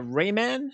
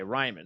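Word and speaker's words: Raimann: team drafted uh and is it uh rayman how do you pronounce his name i believe it's ryan okay ryman so bernard ryman from central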